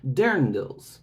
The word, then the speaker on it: Dirndl: the best Lederhosen and Dirndls. which is another word that I didn't recognize, but it means that traditional dress that you see from that Bavarian type of region. It's apparently pronounced like Dirndl, and it comes from